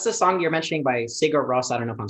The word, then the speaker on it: Sigur Rós: it's this Icelandic band, and everyone says it different. I think it's pronounced Sigur Rós. A lot of people say Sigur Rós.